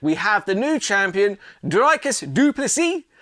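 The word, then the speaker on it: Dricus du Plessis: have the new Champion drus dupy the S is silent and I like I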